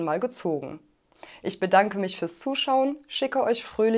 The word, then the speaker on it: für: wort für heute für für hier gibt es den langen umlaut wir dürfen also nicht vorsagen sondern für und das r wird lokalisiert